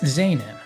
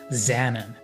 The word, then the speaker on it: Zaanan: And that was Zan, or as I would have pronounced it back then, Xan.